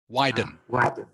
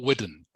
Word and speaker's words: widen: okay I would say the word is widen can you say that for me please widen yeah that's how you pronounce it not not wooden I I would widen